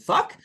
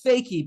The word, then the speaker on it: Foecke: And I was like, how do you pronounce it? Is it fuck? And she told me no, it's fakey.